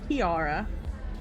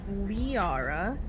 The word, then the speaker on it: Liara: Not Kiara. Liara.